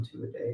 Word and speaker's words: Tuatha Dea: Welcome everybody to Tuatha Dea's basement here in the heart of Appalachia, and we're Tuatha Dea, or two a day if you want to say it right.